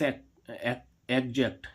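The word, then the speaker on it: exact: ऐसे ही इसमें देखें ई एक्स ए सी पी टी एक्स एग्जैक्ट। एग्जैक्ट means क्या होता है? शुद्ध। एग्जैक्ट। देखो इसमें भी इस एक्स का उच्चारण क्या निकल रहा है? ज।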